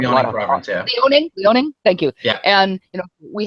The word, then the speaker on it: Liaoning: lot of fossil records that show especially what Liaoning, China. I don't even know if I pronounced that correctly. Liaoning, we have a lot of province, yeah. Liaoning.